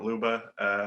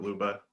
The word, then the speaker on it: Ljuba: But anyway, I'm Ljuba. My Instagram is at Ljuba, LJUBA. I'm based in silent. What? J is silent.